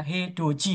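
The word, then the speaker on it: 해돋이: Edoji itu Edoji bacanya Edoji ya. Hedoji ya bacanya itu hedodi bacanya hedoji itu artinya apa?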